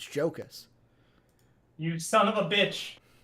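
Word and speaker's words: Jokić: you said it wrong it's not rocus it's jokas you son of a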